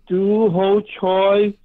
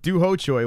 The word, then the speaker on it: Choi: I mean, everyone is excited about CHOI fighting tonight, or ho choi, whatever you call it. Is it it's ho choi? I keep on saying ho choi. Regardless, we're all excited. It rhymes with bok choy, you know, the most favorite vegetable of Asians, you know.